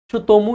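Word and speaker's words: Tsutomu: उसको बोला जा रहा है ततोमुमू यामागूची। इसमें टी जनरली साइलेंट रहता है। टी एस से जब कोई नाम शुरू होता है तो टी को सामान्यत साइलेंट रहते हैं। तो इसको तुमू यामागची कहेंगे।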